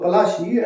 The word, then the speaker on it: Palashi: Plassey is an anglicised pronunciation of Palashi, and the place derived